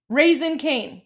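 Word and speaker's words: Raising Cane's: Pronounced raisin. Okay, I appreciate that. Um, raisin. Thank you. Thank you, Americans. Raisin cane. Yes, raisin cane.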